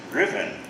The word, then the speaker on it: Ruthven: By the way, that name, Riven, it's spelled R-U-T-H-V-E-N. Ruthven maybe, but it's pronounced Riven.